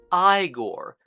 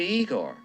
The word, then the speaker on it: Igor: in the form of Igor, who even addresses the problem of movie-going misconstructions with one simple joke. You must be Igor. No, it's pronounced Igor.